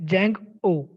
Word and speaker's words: Django: here see the pronunciation jang oh okay here d is silent so that's that's why it is django it is a free